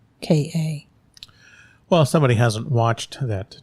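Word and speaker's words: Ahsoka: It's not Ashaka. It's Ashoka. Well, somebody hasn't watched that TV series, so Have you? I have. Oh. So, haha. But it's Osaka.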